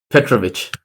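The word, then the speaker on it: Petrović: say it wrong but yeah yeah all right Petrovic correct nice we'll go with that nice Jersey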